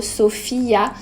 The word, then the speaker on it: Sofia: Et moi ce prénom c'est Sofia, donc prononcé à l'espagnol plutôt Sofia.